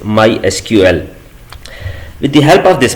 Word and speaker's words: MySQL: supported by Oracle Corporation we can call this product as my sequel but the official way to pronounce it is my SQL with the help of